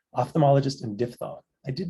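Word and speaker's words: diphthong: facts out there like PHT is pronounced F not P am I the only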